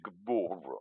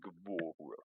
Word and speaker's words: Guevara: Sammy Guevara. Yeah, you got to say it like that. Sammy Guevara.